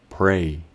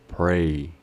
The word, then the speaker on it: pray: la forma de pronunciarse lo único sería tener en cuenta que la a sonaría como una e pray pray veamos ejemplos de su